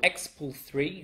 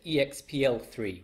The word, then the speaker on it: expl3: have this thing called Expo 3 which is how Frank pronounces it uh it's a nice way to pronounce it in my head I always said expl3 which uh just doesn't roll off the tongue very well um we'll discuss that